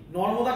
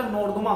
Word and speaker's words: নর্মদা: নর্মদা কিন্তু অনেক সময় কি হয়, এই নর্মদা নদী কিন্তু ছোটবেলা থেকে পড়তে পড়তে নর্দমা হয়ে যায় অনেক সময়, তাই তো? মানে উচ্চারণে ভুল হয়ে যায়।